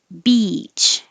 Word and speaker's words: beach: just quickly zero zero beach this one is the e as in he beach you'll see your